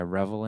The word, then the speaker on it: Revel: Like I revel in it, I cherish it, I relish it, Revel.